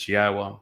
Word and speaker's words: Yahowah: U so be aware God's name is pronouncable. It is Yahwa. There is no B sound in the original Hebrew language.